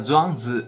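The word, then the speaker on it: 庄子: Em chinês a gente pronuncia Zhuangzi, é o nome de um grande mestre taoísta, junto com Lao Tzu e Liezi.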